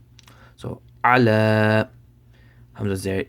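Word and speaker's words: على: So ayn zabar a, lam kari zabar la, ala. So this ya right here, it does not have any harakat, so just ignore it.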